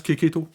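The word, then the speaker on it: Checchetto: où il disait que ça se prononce kéketto bref le CH ça se dit ok vous avez des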